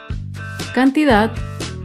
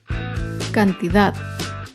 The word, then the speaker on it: cantidad: aguda sin tilde es la palabra cantidad cantidad se acentúa en la última sílaba pero no lleva tilde porque no termina ni en vocal ni en las consonantes tiene pues cantidad las palabras graves